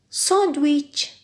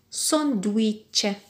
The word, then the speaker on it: sandwich: Sandwich. C'est un mot d'origine anglaise, tout comme le Wi-Fi. Sandwich. Donc, vous avez sandwich. Il nous manque? Très bien, il nous manque toujours oui, W-I.